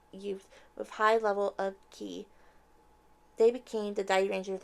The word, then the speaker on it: ki: To counter them, Master Keku assembled a team of 5 youths with high level of ki. They became the Dairangers of the present times. It also could be pronounced chi.